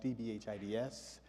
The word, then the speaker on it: DBHIDS: It's a bit of a clunky acronym, so I always remind people that if you say it like smooth jazz, DBHIDS, it rolls off the tongue, right?